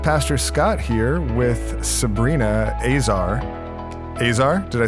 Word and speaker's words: Azar: And regardless of how they would pronounce it in Lebanon, you pronounce it Azar. Yes. I'm assuming your dad pronounces it Azar. He does, yeah. I mean, if he's speaking Arabic, it's pronounced differently, but when we're speaking English, we say Azar.